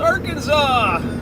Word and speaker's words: Arkansas: We are in Arkansas, or as it's actually pronounced, Arkansas.